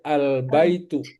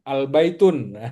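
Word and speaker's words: البيت: Jadi tadinya baitun ketika dia pakai alif lam itu jadi albaitu. Oh, paham ya. Jadi nanti enggak boleh ada kedengaran albaitunah enggak boleh ya.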